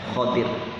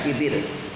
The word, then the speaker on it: Khodir: Nabi Khodir, itu mesti mereka menggunakan huruf ho-nya dengan harokat fathah. Khodir jadinya bacanya Khodir. Jadi bukan Khidir.